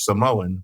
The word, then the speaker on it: Samoa: maybe there is but saying Samoa would be because that's how you say it in the native language as opposed to it